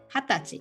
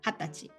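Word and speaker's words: 二十歳: and stuff like that but 20 is very special in japan so we say hatati as a special name which means 20 years old hattachi itself without psy right that was age and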